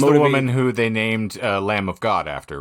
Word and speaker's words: Lam: it's it's l m there's no B the B is silent oh well okay all right um so Eliza lamb is why I originally